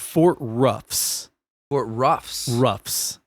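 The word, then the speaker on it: Roughs: But so this specific outpost was called Fort Ruffs. Fort Ruffs. Ruffs. Spelled like R O U G H S.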